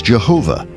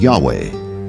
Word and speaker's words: Yahweh: Yahweh was named j because early European translators were ignorant of the correct pronunciation of Hebrew names many inadvertently referred to the name of God as Jehovah instead of Yahweh and ironically the name